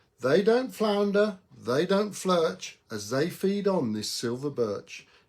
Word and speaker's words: Flirch: And so I've come up with this word called Flirch to rhyme with birch.